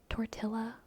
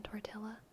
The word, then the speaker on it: tortilla: As a British person, only psychos pronounce the L's in tortilla.